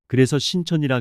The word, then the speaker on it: 신천: 흔히 한자로 세신자를 쓰는 줄 알고 있지만 올바른 뜻은 믿을 신천이라 길게 발음해야 합니다.